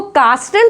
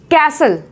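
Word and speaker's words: castle: ऐसे ही इसको कास्टल पढ़ते हैं कुछ लोग, नहीं, इसको कास्टल गलत है, इसे पढ़ेंगे कैसल, कैसल, राइट।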